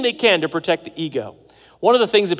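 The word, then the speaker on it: ἐγώ: Ego. Ego in Greek is how you pronounce it.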